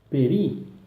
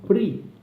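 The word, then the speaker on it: פרי: Na palavra fruto ou fruta, peri, ele é lido com o som de E. Alguns falam pri, por conta da palavra brit.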